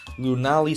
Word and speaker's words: Lunali: For some reason, I thought it was Luna something. I said Lunali, Lunali, I didn't really know, but Lunali sounds a lot better.